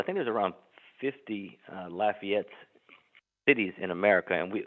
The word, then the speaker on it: Lafayette: we we have um uh Lafayette as in laugh as you mentioned the